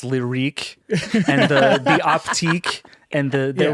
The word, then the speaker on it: Lyriq: There's like the Lyric, which I assume is now pronounced Lyrique, and the Optique, and there was like the Cintiq and the Celestique.